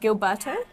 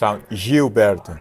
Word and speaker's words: Gilberto: human being a person am I right in pronouncing it Gilberto yeah I can see I don't know if s jilberto jilberto jilberto jilberto is better perfect well jilberto thank